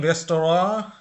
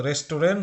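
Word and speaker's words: Restaurant: তারপর পরবর্তীতে ইন রেস্তোরাঁ, এটার উচ্চারণ কিন্তু রেস্তোরাঁ হচ্ছে একটা ফ্রেঞ্চ শব্দ বা ফরাসি শব্দ।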